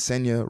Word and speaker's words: Senya: So my name is Senya, rhymes with Kenya.